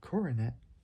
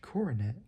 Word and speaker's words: Coronet: Forgot how you pronounce it. Say Dodge Coronet. I might talk about that car one day. I don't know. Probably. Probably not. I don't know. Say Dodge Coronet. Spelled C O R O N E T.